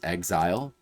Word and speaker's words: XZR: Originally called XZR, which is like a clever Japanese pun because it's pronounced as Exile.